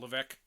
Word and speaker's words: Levesque: When he was was it Paul Levesque? Yeah, no, there was, yeah, well, that's how it's pronounced, is Levesque.